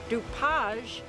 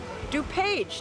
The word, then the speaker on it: DuPage: And Dupage is Dupage to us. It's Dupage County, but they're known as Dupage because that's the French pronunciation of Dupage.